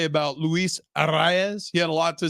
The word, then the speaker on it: Arraez: it was great, but he pronounces it Arraez, which I think is probably how you're supposed to. Don Orsillo just says Arise, and I think I'm somewhere in the middle.